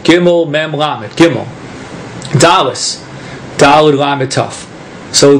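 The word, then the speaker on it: גימל: And the the letter gimble is gimmel. Gimmel raid gimmel Dallas lame.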